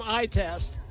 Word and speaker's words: ITEST: Science and Technology terrific not many people can pronounce it it's like NASA we go by our acronym itest and what exactly is